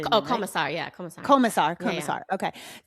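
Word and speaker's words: Komisar: This is from Erica Kosmer. Is that how you say it? Oh, Commissar.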